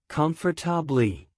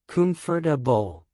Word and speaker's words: comfortable: with their correct pronunciation comfortable wrong comfortably correct comfortable Wednesday wrong wedness day correct